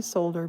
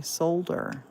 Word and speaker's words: solder: in Scotland you say solder you pronounce that L if you don't pronounce the L it's a swear word I've had uh trolls